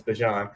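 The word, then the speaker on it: Bijan: He said not be John. It's Bjan.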